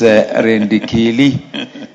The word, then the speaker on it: Indegere: I think that's the English version of your name. The correct pronunciation is Indegere. And traditionally Indegere.